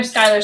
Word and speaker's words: Schuyler: my handle is at schuyler skyler spelled like the skylar sisters of hamilton fame um and i'm on instagram at uh super 19.